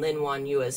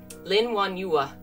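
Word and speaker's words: Lin Wanyue: to say this because the last syllable y-u-e is actually two sounds and i'm not used to one you you lin won yua stopped what she was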